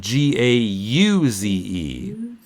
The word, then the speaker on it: gauze: think Gaza GA ze in English it's spelled GA u ze and we see that E as being a silent e so we say gauze good yeah god gauze